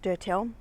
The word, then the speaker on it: Durtal: wonderful chateau of dotel so it's spelt d-u-r-t-a-l so once again um i put the acknowledgement out there that my french is shocking what french i do have so i pronounce it dirtel it may be pronounced something else but however it's pronounced